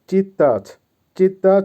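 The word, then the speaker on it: читать: হবে নেওয়া বা ইংলিশে হবে টেক আবারো বলছি উচ্চারণ হবে ব্রাদ ভার্ব চিত্তাচিত এর বাংলা হবে পড়া বা রিড আবারো বলছি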